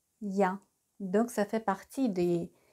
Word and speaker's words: я: et la voici et est ce que vous vous rappelez comment s prononce donc elle se prononce dia ya donc ça fait partie